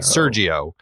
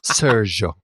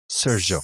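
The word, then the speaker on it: Seargeoh: found online it's like Serio Serio it's like a French Sergio Serio another little interesting bit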